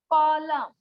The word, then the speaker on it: column: जैसे कॉलम, COLUMN, यहाँ पर एन है लेकिन इसका कोई मतलब नहीं है।